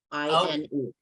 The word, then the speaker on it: Moline: I was born in Moline, Illinois.